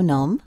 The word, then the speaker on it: naam: Wat is jouw naam? Wat is jouw naam? Naam. Okay, so the long A is, or the two A's is pronounced the way that we pronounce Nam in Vietnam, or at least some